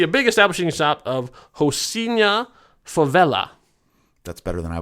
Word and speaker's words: Rocinha: Yeah, because I mean, you look at it, it looks like Rocinha Favela, but I looked in the pronunciation in Portuguese, and it's Rocinha Favela.